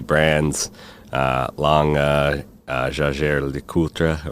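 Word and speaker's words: Jaeger-LeCoultre: uh long uh uh Jer lra or Jer lra as we say in the US and others well I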